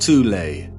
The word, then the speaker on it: Thule: secret society within germany called the thole society sometimes alternatively pronounced toulei that had sub-factions within